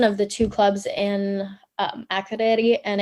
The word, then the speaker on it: Akureyri: So forgive me if I don't do the pronunciation justice, but it's Akureyri. Akureyri.